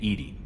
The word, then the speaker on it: EDI: have a specific inquiry why are you named ed ed is the phonetic pronunciation of Ed I that is an acronym